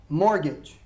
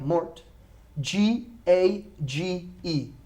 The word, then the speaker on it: mortgage: Mortgage. Now we spell it M-O-R-T, like mort, G-A-G-E. Okay, mortgage. But we do not pronounce the T.